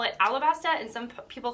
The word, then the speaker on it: Alabasta: like no girl like you're not saying it wrong it is alabasta and not arabasta but I mean it could be arasta and I'm not going